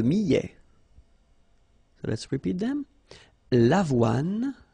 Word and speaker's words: l'avoine: L'avoine, le blé, le maïs, le millet. So let's repeat them. L'avoine, remember, don't insist on the final E.